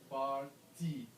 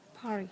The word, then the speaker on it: party: You have to pronounce that T. But when I come here, Party. I hear how party is pronounced. You may pronounce it as party or Party. party. Yeah. So where is the T? I keep searching for the T.